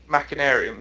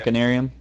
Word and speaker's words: Machinarium: Yeah, actually, I'm looking at that Machinarium, I think is how you pronounce that? Machinarium, yeah. Machinarium.